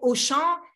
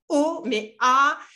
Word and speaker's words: Auchan: une chaîne française et au chant et tu m'avais là tu m'as donné un exemple avec auchan pourquoi on ne prenait ne va pas le prononcer haumea et la plupart des